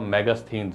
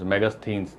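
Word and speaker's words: Megasthenes: स्थन जो है ना इसकी स्पेलिंग बड़ी जटिल है आप बोलने में जैसे आप कर सकते हो मैगस थिनस मैगस थिनस मैगी याद कर लो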